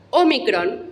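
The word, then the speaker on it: ómicron: imprenta minúscula y mayúscula omicron es una o breve así como epsilon es breve se pronuncia e o micron se produce simplemente o vamos a la próxima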